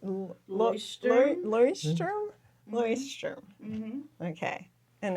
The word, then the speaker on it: Leuchtturm: But I've heard people call it lectern, Leuchtturm, We're getting closer. Leuchtturm. Leuchtturm.